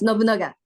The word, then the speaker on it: Nobunaga: So, Shoko, this movie is about an ancient samurai warrior, uh, Nobunaga. Am I pronouncing that right? Yes, Nobunaga. That's Nobunaga.